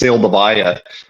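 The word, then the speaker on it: Seldovia: It's a uh has a Russian name. It's actually pronounced Savvaya.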